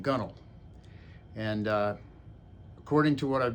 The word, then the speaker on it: gunwale: So the expression gunnel, which really comes from the word that looks like it should be pronounced gun whale, refers to the very